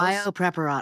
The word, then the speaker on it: Biopreparat: I don't speak Russian, so Good job on the pronunciation. Is that close? Biopreparat.